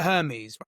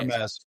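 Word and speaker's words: Hermès: And look at Hermes or Hermes. How is it Hermes? Yeah, Hermes. Hermes there.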